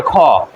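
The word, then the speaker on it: king: যেটা আছে সেটি হচ্ছে খ। তো আমরা এটাকে কিং বলি, এটা হবে খিং।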